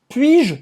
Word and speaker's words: puis-je: O U faz a boca do U e fala aí o S do puis. Não se Não se escuta. pronuncia? Uhum. E o je vai ser como se fosse só um J.